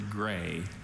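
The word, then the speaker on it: grès: The word is gray.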